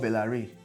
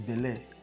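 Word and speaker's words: Belaire: continuous process when I started hype I was pronouncing mo as moet it's mo it's not ve clot it's ve cle it's not bellare it's ble I learned those things just last year I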